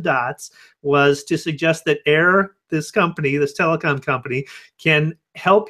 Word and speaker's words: Eir: An Irish telecom called Air, I believe is how you pronounce it, EIR.